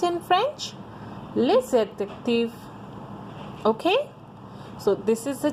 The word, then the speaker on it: les adjectifs: How we pronounce in French? Les adjectifs.